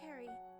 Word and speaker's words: Ceri: It's pronounced Ceri, like a K.